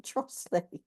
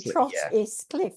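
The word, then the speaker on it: Trottiscliffe: she said no I don't I live in trle but it's actually Trot is Cliff that's the way it's that's the way it's spelled and there's also there's another place in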